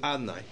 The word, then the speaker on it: Adonai: So today, Hashem's name is written Yud Kei Vav Kei, but it's pronounced as Adonai.